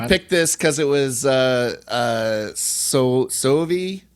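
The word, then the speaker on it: Soavi: I thought you picked this because it was Sovi. I can't remember how you pronounce his name. Suavi, the director, Michel Suavi. No, Sovi.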